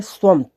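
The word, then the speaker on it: صمت: जैसे स्वमत, स्वमत, स्वमत, तो समत नहीं कहना, स्वमत, सॉरी, स्वाद की आवाज़ निकालना है, तो यानी खामोश, साइलेंट।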